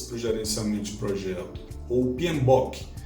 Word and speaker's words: PMBOK: gerenciamento de projetos ou pinboque é atenção para pronúncia que é bope tá não é book são as iniciais de